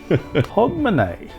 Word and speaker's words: Hogmanay: Hogmanay. Sorry? I know, it's pronounced different to the way it looks written down.